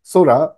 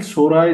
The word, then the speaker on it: Sora: here is Sora and you probably pronounce that Sora because it's Japanese which stands for the sky uh and he said